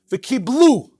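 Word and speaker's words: וקבלו: The pronunciation when you read the Megillah is Kimu v'Kiblu. The way it's written is v'Kibel.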